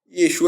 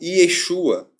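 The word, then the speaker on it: יֵשׁוּעַ: Após o cativeiro babilônico, esse nome, Yehoshua, passou a ser pronunciado como Yeshua.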